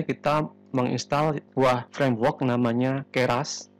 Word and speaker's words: Keras: menginstall sebuah Framework namanya keras jadi bacanya keras bukan keras-keras ini merupakan Framework atau